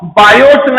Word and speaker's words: Biot: तो इनका नाम था यो बैप्टिस्ट बायो, बायोट नहीं, बायो केवल, टी साइलेंट रहता है, और इनका नाम था फेलिक्स सैवर्ट।